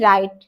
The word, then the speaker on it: write: RIGST राइट, और ये देखिए WRITE राइट। दोनों का जो उच्चारण है, प्रोनाउंसिएशन जो है वो बिल्कुल सेम है, लेकिन दोनों का स्पेलिंग क्या है वो अंतर है।